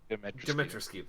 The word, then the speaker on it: Dimitrescu: her last name and not screw this up, Dimitrescu? Or Dimitres? Say it like you would a sword, since you're a weeb. Oh, Hardy Har Har. Dimitrescu, thank you.